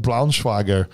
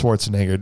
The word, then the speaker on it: Schwarzenegger: know i am i'm the famous comedian arnold braunschweiger yeah it's like it's schwarzenegger yeah and uh that's so this is when